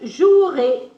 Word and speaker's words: jouerai: Je ne prononce pas le E muet pour les verbes. Ennuyer, O-U-E-R, comme jouer, jouer. Je jouerai, A-I.